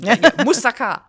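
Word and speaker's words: moussaka: So, you can say it the Greek way too. Yeah. Well, I don't know if I can. Musaka.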